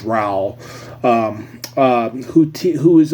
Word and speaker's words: Raul: Raul ra uh and Dion I read as Raul but he emphasized it's pronounced Ral um um who who is a basically he's